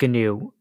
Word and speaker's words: gnu: say I know that the animal was pronounced with a silent G the operating system you pronounce the G all right before everybody jumps on me I did check I always pronounce it gnu I know it's not